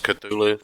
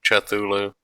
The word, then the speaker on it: Cthulhu: Is it Cthulhu? I guess Cthulhu, Chthulu. I don't know. I think Ch is incorrect.